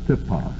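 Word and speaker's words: τύπος: Tupos, or if you want to spell it out, usually the upsilon is transliterated as a Y in English, T-Y-P-O-S, tupos. We would pronounce it tipos.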